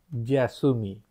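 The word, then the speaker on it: 休み: Chữ kanji cho kỳ nghỉ là cái này ở đây và nó đọc là YASUMI.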